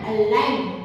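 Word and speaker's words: align: हम देते हैं कि ए एल आई जी एल तो देखिए यहां प भी जी है तो हम इसको किस प्रकार अलाइन कैसे बोलेंगे अलाइन तो यहां पर भी जी साइलेंट है उसी प्रकार से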